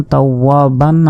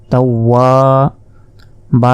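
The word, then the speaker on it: تَوَّابًا: তাহলে এই শব্দটির উচ্চারণ এরকম হবে, তাও ওয়া জবর তাও, ওয়া আলিফ জবর ওয়া, তাও ওয়া, বা আলিফ জবর বা, তাও ওয়া বা।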